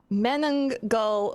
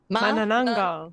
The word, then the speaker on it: Manananggal: One of the Sarahs, can you help me pronounce the name of this mystery? The Manananggal murders. Manananggal.